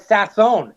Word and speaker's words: Sasson: you asked so I first heard it with sassin when he joined the team a couple years